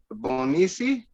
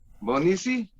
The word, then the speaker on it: Bonisi: Up next, I actually had Bonisi. Is that how I pronounce it? Bonisi? Great love to Magus, and Did so I blessed. pronounce it right? Yes, in Bonisi, yes.